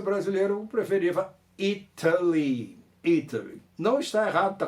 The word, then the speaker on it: Italy: brasileira um preferir vá italy italy não está errado está correta ter culto falar itália mas americanos acabam mudando esse te do itally para um troço meio r meio de ele ele irei